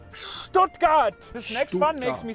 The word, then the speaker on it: Stuttgart: It is not called Stuttgart. It is called Stuttgart. Like Stuttgart. Do not say Stuttgart. Say Stuttgart.